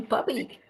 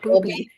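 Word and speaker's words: bubbe: She's just a loving bubby. I finally learned to pronounce it right. It's not booby, right? It's not booby. Bubby. Bubby like bub. Hey, bub.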